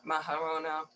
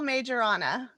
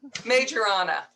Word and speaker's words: Majorana: course uh mahara maharona i'm mispronouncing it but that wonderful woman please please pronounce it correctly maharana it's a majorana majorana too simple major on and